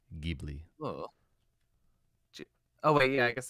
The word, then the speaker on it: Ghibli: uh gbt uh that i do the soft g for ghibli oh wait yeah i